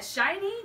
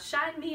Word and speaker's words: SHINee: terrible oh my bad SHINee not shine me off nope demonic former